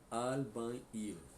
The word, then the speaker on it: albañil: El albañil. O L tem que subir, né? Albañil. N com tio com som de NH.